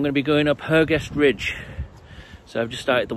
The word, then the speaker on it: Hergest Ridge: Today we're going to have a little walk around the beautiful village of Kington, and I'm going to be going up Hergestridge.